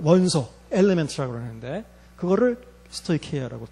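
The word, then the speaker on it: στοιχεῖα: 자, 스토이케이아라고 읽어요. 스토이케이아.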